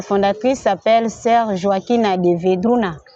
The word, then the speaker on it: Vedruna: Et notre fondatrice s'appelle sœur Joaquina de Vedruna. D'autres personnes prononcent Vedruna, c'est le B en espagnol, on prononce B.